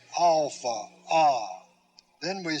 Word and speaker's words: alpha: how they are written alpha ah now when i say alpha i'm showing you the symbol ah like our letter a i'm also showing